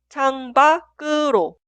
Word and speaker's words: 창밖으로: En estos casos, en la pronunciación, la consonante final 상기역 se traslada al lugar de i응 en la sílaba posterior y se pronuncia 상기역 como consonante inicial. Por eso, la primera frase se escribe así, pero suena 창밖으로, 창밖으로, 창밖으로.